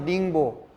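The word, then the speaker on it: 宁波: 옆에 있는 영파 지역, 중국식 발음으로 닝보, 그 지역으로 갑니다.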